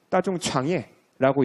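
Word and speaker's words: 大众创业: 따중창예라고 읽고요.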